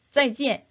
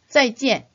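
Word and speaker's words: 再见: 두 번째 음절을 찌엔이라고 일성으로 발음하면 안 되겠죠. 물론 중국인들이 대충 알아들을 수는 있겠지만 그래도 정확한 발음은 찌엔, 사성입니다. 그래서 어떻게 발음하라고요? 네, 짜이지엔 이렇게 절도 있게 발음해 주세요.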